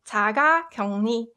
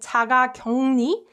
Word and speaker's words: 자가격리: So when uk is combined with 르, this uk softens to 응, and 르 gets replaced with 느 sound.